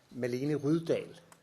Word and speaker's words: Malene Rydahl: And I would like to, of course, also welcome Malene Rydahl, which is actually the pronunciation.